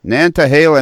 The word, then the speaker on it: Nantahala: you're in nine not how do you say that national force Nantahala Nantahala national forest that's correct most people know where